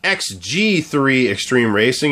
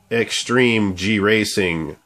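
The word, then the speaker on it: Extreme-G 3: mispronounced this earlier uh it's not xg3 extreme racing it's extreme G racing part three okay uh all I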